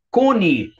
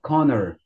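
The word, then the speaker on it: Conner: Mas você não fala Connie. Você fala o quê? Connor.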